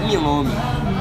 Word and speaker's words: milome: Como você pronuncia isso? Esse aqui é milome.